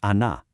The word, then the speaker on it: она: Then we have feminine, which is ana.